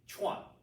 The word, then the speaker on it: Chuan: But we can say it like the words chew on fast, chew on, Chuan. Say it as one syllable.